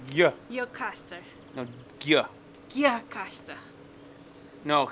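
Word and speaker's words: Gjirokastër: So the J would be a Y sound. It'd be Gye or something. Gye. Gjirokaster. No, Gye. Gjirokaster. No, it could be Gjirokaster.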